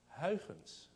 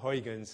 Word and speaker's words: Huygens: I should stop here for a second and talk about how we pronounce that man's name. Huygens. Okay. I claim no particular credit. I happen to be Dutch. All right, and it's you've all heard it. I mean, Dutch is not a language, it's a throat condition. but in the Anglo-Saxon way, we just call it Huygens, and everybody knows that